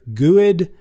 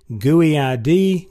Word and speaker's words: GUID: pronunciations of this guid you'll hear guid guy ID GD all sorts of things out there but the bottom line